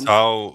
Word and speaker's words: Tau: Tau rhymes with cow, so I will stick to True.